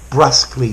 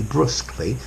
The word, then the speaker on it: brusquely: Brusquely, brusquely, brusqueness, brusqueness. Both pronunciations are possible.